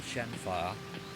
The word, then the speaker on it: Shenhua: Correct me if I'm wrong about this, but the pronunciations seem different with different Chinese dialects, and the dubs use different things, like Shenmue 2, and in certain cases call her Shenfa, and Shenmue 3, from